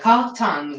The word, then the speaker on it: Cartan: The Cartan with a French pronunciation. Because I think Cartan was a French mathematical.